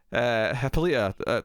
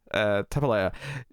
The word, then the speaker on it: Hippolyta: Hippolyta, I keep saying her name wrong. I keep trying to avoid saying the comic book one, so I end up saying it weirdly. Yeah, Hippolyta.